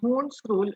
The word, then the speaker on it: Hund's rule: Some people pronounce it as a Hans also, but I guess this is the German word, so it should be pronounced as Hund's rule of maximum multiplicity.